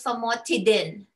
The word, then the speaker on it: Famotidine: Did you hear what I said? Tidin. Tidin. Not dine. Okay, I always say, oh, you know, pronounce it as how we'd say it. But for drugs, we don't do ines. We do in.